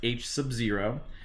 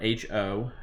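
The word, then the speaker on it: H₀: hypothesis there we have h o so it's pronounced H sub 0 or H 0 you'll call me you'll hear me call it H Oh a lot the alternative is going to be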